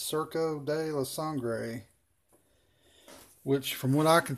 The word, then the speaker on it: Surco de la Sangre: is what it's called for people that have trouble pronouncing Spanish I believe it's cerca de la sangre which from what I